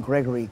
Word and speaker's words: Gregory: They hardly ever pronounce the name Gregory correct. They used the second G was always sounded like a K.